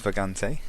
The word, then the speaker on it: Vagante: lately since last time I found out that it is actually called for ghante I didn't make up that pronunciation it's a Spanish word so I'm still butchering it to bits but I know it is actually at least in the ballpark it means wanderer apparently